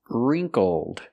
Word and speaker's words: wrinkled: let's talk about pronunciation wrinkled so we see the W is silent ring for the first